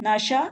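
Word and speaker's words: наша: जैसे हमारा थैला, नशा सुमका, n-a-s-h-a सुमका, जिसका अर्थ है हमारा थैला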